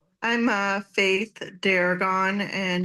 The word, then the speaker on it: Deragon: Uh, what is your full name and could you please spell it? I'm uh Faith Daragon and it's um F A I T H